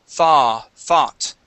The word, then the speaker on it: thought: Okay, the O-U-G-H makes an ah sound. You were very close with this one. Let's get a little bit closer. The word is thought.